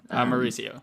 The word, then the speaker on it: Mauricio: How do you pronounce his name? Mauricio. Yeah. Mauricio, yes, just like the nicest guy.